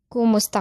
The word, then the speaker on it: kumusta: The stress is on the second to the last syllable of the word kumusta, which is mus. So that's kumusta ka, kumusta ka.